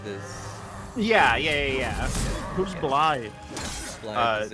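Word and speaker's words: Blaidd: Blythe is a. This is my boyfriend wolf from Capra Elden Ring. Elden Ring. Oh, is that how his name is pronounced? Yeah. Yeah. Blythe. Really? I called him Blade.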